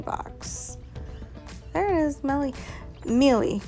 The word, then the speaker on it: Miele: Miele, really, is how you say it.